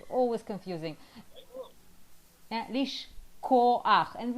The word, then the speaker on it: לשכוח: It's k. K and h. That's the biggest problem. That's always, yeah. K and h, always confusing. Yeah, לשכוח.